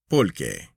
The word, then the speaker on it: pulque: From this century plant, or cacti, The Mexicans make their beer, which they call pulque, pronounced polque.